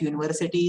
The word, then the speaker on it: university: Okay so please keep in mind that university, though the spelling of university is starting with vowel u, the sound that we pronounce okay for university is y.